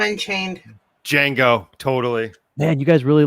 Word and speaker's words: Django: Okay, this next one, Django Unchained, because the D is silent, up against Mad Max. Not 1980s Mad Max, but Mad Fury Max Road. with one-armed Charlize Theron. Django Unchained. Django, totally.